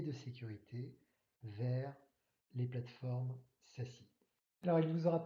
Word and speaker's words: SASE: C'est le Secure Access Service Edge, qu'on prononce donc SASI, et qui constitue la prochaine grande transformation réseau et sécurité pour les organisations.